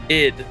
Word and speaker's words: Id: Lid without the L. ID.